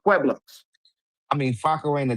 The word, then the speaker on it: Pueblos: Flacco couldn't pronounce Pueblos and mispronounced y'all and called y'all the Pablo Bloods because he didn't know that it was pronounced Pueblos.